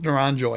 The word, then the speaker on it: Naranjo: kevin around naranjo naranjo i think it's naranjo i think you pronounce